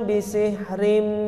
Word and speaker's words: bisihrim: Contoh membaca yang salah begini, bukan yang salah, yang kurang benar. falanatiyannaka bisihrim mithlihi. Ah, itu keliru. Yang tepat, falanatiyannaka bisihrim. Jadi tahan. Bisihrim.